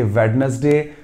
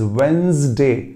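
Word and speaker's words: Wednesday: that वेंसडे वेंसडे ना कि वेडनेसडे कई लोग वेनसडे भी बोलते हैं उन्हें लगा कि डी साइलेंट है तो वो डी हटाकर वेनसडे वेडनेसडे वो वेनसडे नहीं होता दैट इज वेंसडे मान लीजिए उसकी स्पेलिंग होती W-E-N-Z फिर जो आप उसे साउंड देते W-E-N-Z तो जो आप साउंड देते हैं वही वेंसडे कहलाता है मैं एक बार फिर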